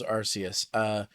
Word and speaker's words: Arceus: Is that how you pronounced it? Yeah, Legends Arceus.